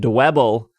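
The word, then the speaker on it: Dwebble: Pokemon including Scyther Venipede and dabble because it rhymes with pebble will be appearing more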